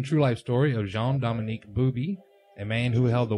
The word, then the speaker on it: Bauby: It's pronounced Booby. A booby? Okay. The astonishing true life story of Jean-Dominic Bauby, a man who held the world in his